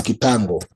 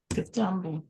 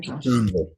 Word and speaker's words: kitango: You find it's also very rare to find people knowing the name, which is kitango. Kitambo. It's called kitango.